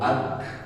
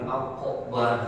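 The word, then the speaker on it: أكبر: Allahu akbar.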